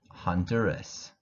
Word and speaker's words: Honduras: Dominican Republic, Ecuador, El Salvador, Guatemala, Honduras, Mexico, and that's the Mexican flag, Nicaragua, Panama, Paraguay, Peru, Puerto Rico, Uruguay, Venezuela, and Spain.